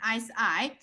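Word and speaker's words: 四: Pronunciation, si. And this one, si, means death. You see death, but their pronunciation, the tone is different. One is si, one is si. But in general, si sounds similar.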